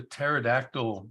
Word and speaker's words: pterodactyl: I've never heard a pterodactyl use the restroom and I'm guessing that's because the p is silent oh have we had